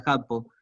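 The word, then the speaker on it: 八方: Fonéticamente, al juntar esas dos palabras, cambia un poco la dureza, la agudeza de la palabra y se pronuncia Jappo.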